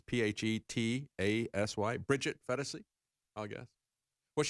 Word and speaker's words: Phetasy: As one person tweeted, I think you pronounce her last name as Phetasy. It's P-H-E-T-A-S-Y.